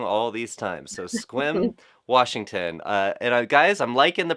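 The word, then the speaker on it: Sequim: So Squim, Washington. Guys, I'm liking the pronunciation key.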